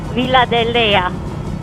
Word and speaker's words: Villa de Leyva: Villa de Leyva.